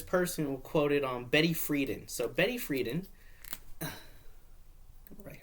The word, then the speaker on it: Betty Friedan: So, Betty Friedan, that's how you say her name, and you